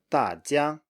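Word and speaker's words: 大家: And the next one is 大家, 大家, 大家.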